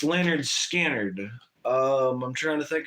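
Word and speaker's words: Lynyrd Skynyrd: rock music in general kind of like legendary pronounced Leonard Skard.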